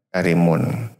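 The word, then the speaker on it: كريم: penghormatan yang disifati dengan karimun. Karim ya kalau bacanya karim.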